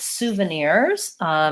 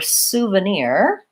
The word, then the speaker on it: souvenir: on my list so for souvenir we we stress the last syllable so the first two syllables are short souvenir our first sound is the ooh which I can think of as being spelled like ooh su same as in the word soon Suva we have vowel schwa they're unstressed and then lastly here we have an E and then our sound souvenir so I'm thinking about